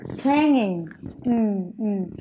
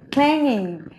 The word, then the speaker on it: clanging: Now, next is, yeah, clanging. Cái chữ này phụ âm, chúng ta đọc cho cô Hoa nhé. Phát âm này.